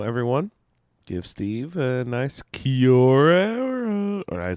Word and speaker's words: Kia ora: So everyone, give Steve a nice Kiora. Or I said that horribly. Kiora. See, it throws me off because it's two words when he writes it, but he pronounces it as one word.